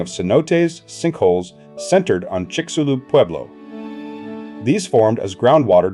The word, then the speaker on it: Chicxulub: In 1991, Hildebrand, Penfield, Boynton, Camargo, and others published their findings identifying the Chicxulub crater. Named after the nearby town, its pronunciation, Chi-shu-lub, was a playful jab at skeptics who had dismissed it for years.